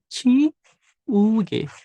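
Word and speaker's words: 지우개: Dibacanya adalah Ciuge. Ciuge. J di depan dibaca CH ya. Jadinya Ciuge.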